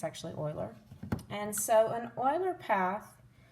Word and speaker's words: Euler: name is pronounced euler which is not what it looks like it looks like euler but it's actually euler and so an euler